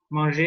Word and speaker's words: manger: So manger is similar to man in the pronunciation.